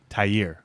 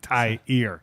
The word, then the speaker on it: Tahir: Just think of it in the terms of like maybe the H. The H is the only thing that's in Spanish. Oh, yeah. Because you don't hear the H. That's in right. Spanish. Right. It's like tire with an extra syllable in there. Tahir.